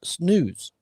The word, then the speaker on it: snus: Well, what's funny, it says it's pronounced snooze, like the snooze button. The button. How does every it spell? hockey player, every SNUS. Every hockey player I've ever met that's their habit, snooze.